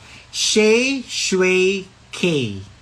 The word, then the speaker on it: Shae Shue K: Dapat makinig kayong mabuti paano po i-pronounce yung pangalan ko as a drug name ko. Ayan ha. Sabay-sabay tayo makinig mabuti. I-screen record niyo 'to. Dapat ganito 'yung pagkasabi niyo. Sha shway k again.